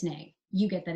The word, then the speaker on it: nae: nay instead of no, you can write nae. I get that it's nay. You get that it's nay. And the person who says it out loud is going to get that it's nay.